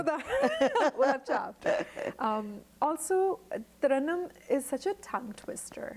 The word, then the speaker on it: Tarannum: So they would make it Tara, Tarunam, Taranam.